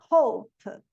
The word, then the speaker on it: hope: Então, é theme, e o E não pronuncia, ó. Theme, termina no M. Team, time, time. Hop, hop, hope, porque eu termino no P.